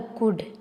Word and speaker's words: could: सबसे पहले जो हमारा शब्द है वो है कुड। COULD, इसको हम पढ़ते हैं कुड। एल हमारा साइलेंट रहता है तो हम इसको क्या पढ़ेंगे, कुड।